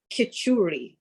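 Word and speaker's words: খিচুড়ি: Khichuri.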